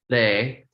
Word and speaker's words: Ray: Sa, re. It's spelled R-A-Y, but we flick the tongue onto the roof of the mouth like a hard R or a rolling R. So it sounds more like a D, sa, re, sa, re,